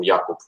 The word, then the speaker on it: Jakub: I think you should pronounce him Jakub in Polish.